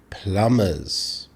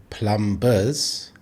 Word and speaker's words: plumbers: Notice how I pronounce the word plumbers. I don't say plumbers. We have a silent B.